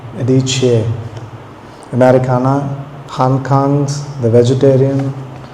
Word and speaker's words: Adichie: I actually had to look up how to pronounce her name. Adichie.